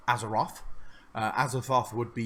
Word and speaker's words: Azeroth: thought in that moment a Kanaan it is pronounced as a Roth as a thought would be you having a